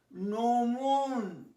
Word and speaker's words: gnomon: এই এনটা যদি না হয়, কোনটা দেখো, জিটা যদি না হয় তাহলে কি উচ্চারণ হবে? ধরো এখানে জিটা নেই, তাহলে কি হবে? নোমুন, নোমুন, নোমুন।